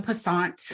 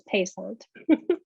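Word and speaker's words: Pasant: We open October 14th at the Wharton in the Passant. I think I'm saying it wrong because I've just been told, is it Passant? Yeah, me, I just learned it too. It's Passant. Passant, yes, in the Passant.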